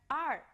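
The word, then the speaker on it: 二: you pronounce our well let me tell you a little trick first show me your town and then curl town back while you're making a sound and do you find the pronunciation of art let's try it together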